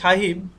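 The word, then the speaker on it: sahib: আচ্ছা, এ সাহেব, আচ্ছা এখানে সাহিব বা এটার উচ্চারণ হচ্ছে এমনি সাহেব, আমরা বাংলায় যে সাহেব কথাটা বলি এইটাই হচ্ছে সেটা।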